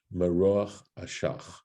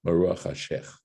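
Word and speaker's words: מרוח אשך: Thank you. Maruach Hashech. Correct. I mispronounced it.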